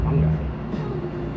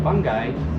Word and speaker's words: fungi: fundamentals of like fungi, however you want to pronounce it, I pronounce it fungi. Like, I'm a fun guy.